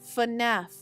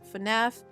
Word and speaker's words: FNAF: I know how to pronounce it because it's FNAF. FNAF. I'm going to say it 3 more times. FNAF, FNAF, FNAF.